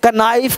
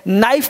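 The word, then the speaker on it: knife: अब के का है, अब कोनो कनॉट कनाइट कनाइफ कनॉक, ऐसे गलत हो जाएगा, तो क्या करा एन से पहले के साइलेंट रहता है, तो यहाँ पे के जितने वर्ड लिखे हैं ये सब का उच्चारण नहीं होता, आपको नो पढ़ना है, नॉट पढ़ना है, नाइट पढ़ना है, ये ध्यान देना है, नाइफ पढ़ना है, नॉक पढ़ना है, एक खास रखना है,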